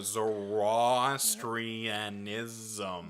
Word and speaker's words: Zoroastrianism: Yeah, Zoroastrianism.